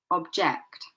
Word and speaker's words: object: Okay, the stress is on the second part. Content. Remember, this is an adjective. Content. And for the other verbs, contract. This one, object. This one, record. Record.